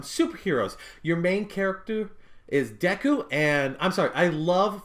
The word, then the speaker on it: Deku: the way they do deco deku sorry i don't know why i pronounced him like that but to see